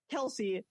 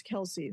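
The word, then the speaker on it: Kelce: their father Ed Kel's Kelsey it's pronounced one syllable kelse however tired of correcting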